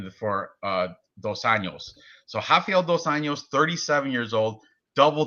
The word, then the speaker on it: Rafael: to our main event um we've got rda rafael dos anos 37 years old big age difference here yeah it's a hafiel los angeles against yeah r for fizzy you pronounce the r for raphael and h if